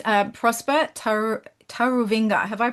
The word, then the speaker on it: Taruvinga: It's uh Prosper Tar Tarovinga. Have I pronounced that correctly?